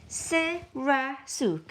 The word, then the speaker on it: Sirasuk: Sirasuk, is that Is that right? right? Sirasuk, am I saying it right? Sirasuk, yes, Sirasuk. Sirasuk? That sounds right.